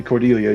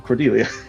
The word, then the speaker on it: Cordelia: which I think particularly Cordelia you would Celia sorry wait no I did say it right the first time Cordelia mhm I think notably